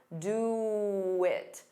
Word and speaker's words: do it: To get rid of that pause, you can add a very soft W. Do it. Do it. Do it. But when you say it as one word, you don't hear it.